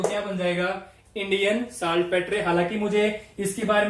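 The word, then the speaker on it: saltpetre: Pronunciation कुछ भी हो सकती है, प्रोनाउंसिएशन आप अपनी अपनी कर सकते हैं। मैं इसको साल्ट पेट्रे बोलता हूं।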